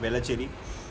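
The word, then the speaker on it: Velachery: वेलाचेरी am I pronouncing it right? Yeah, वेलाचेरी.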